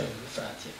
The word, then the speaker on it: Efratia: Si pronuncia Efrazia. It's the unique in the world. There is no other Efrazia. Nome particolare. È per questo che chiedo, perché secondo me è un suono molto. Suona effrazione, no?